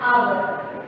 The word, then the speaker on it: hour: Okay, next an hour.